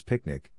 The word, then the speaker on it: PQNK: also referred to as pqn K pronounced as picnic which stands for Peter